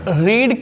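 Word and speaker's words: read: हमें कहना चाहिए रीड, रेड, रेड। क्या पढ़ेंगे, रेड। तो याद रखना रीड नहीं कहेंगे। A novel is being रेड, spelling वही है। अब रीड नहीं पढ़ते, इसको रेड पढ़ते हैं।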